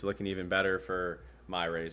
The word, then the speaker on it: Miyares: But more votes just came in, and it's looking even better for Myrays. Am I pronouncing that right? Jason Myrays? Mieres? I think it's Miyares. Miyares.